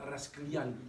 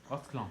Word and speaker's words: Rasclan: Alors je me demande si on ne prononce pas Rasklian. Non, Rasclan. Il n'y a Ouais. pas de Yann. Il n'y a pas de Yann. D'accord, parce qu'il me semblait que Yann, ça voulait dire fils de.